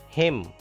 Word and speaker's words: hymn: Hymn. N is silent here.